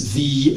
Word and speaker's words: fi: welsh for example for for me it's v which is spelled f i but people use the